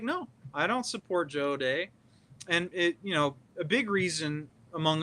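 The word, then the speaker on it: O'Dea: Yeah, his name is pronounced O'Day, by the way. Okay. And no, I didn't vote for Joe O'Day.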